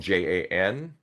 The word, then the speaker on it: Jan: Is that you might be wondering how to pronounce my name if you haven't talked to me before. So, my name is spelled J A N and I typically go by Jan.